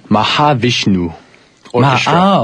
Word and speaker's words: Mahavishnu Orchestra: Mahavishnu Orchestra. Mahavishnu Orchestra. Yeah. Oh, I can't pronounce it.